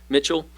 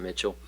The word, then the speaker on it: Michal: Then at the end of the chapter, David marries one of Saul's daughters, Michal, or however you say her name, Michal. It's not Mitchell.